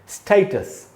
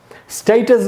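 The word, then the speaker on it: status: तो दोस्तों ये जो वर्ड है स्टेटस, ऐसे पढ़ेंगे स्टेटस। स्टेटस दोस्तों इसका ब्रिटिश उच्चारण है, अमेरिकन में इसको पढ़ते हैं स्टेटस।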